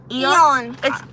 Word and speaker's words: Aeon: I want to say it's Eon. I hear a lot of people say Eon, and then I hear Japanese people say Eon. No. Aeon. It's spelled A-E-O-N. Yes. So I pronounce it Eon. Yeah. But there are different ways to pronounce it.